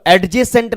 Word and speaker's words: adjacent: तो एडजेसेंट ना बोलोगे, डी साइलेंट रहेगा, एडजेसेंट बोलोगे।